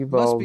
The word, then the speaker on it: Uvalde: Is that how you pronounce that? Yep, Must be Uvalde, in southern Texas.